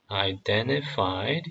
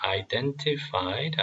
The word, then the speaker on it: identified: These were the descendants of Shem, identified. 여기도 마찬가지로 무음으로 하셔도 되고 아니면 t 발음하셔도 됩니다. identified 아니면 identified by clan, language, territory, and national identity.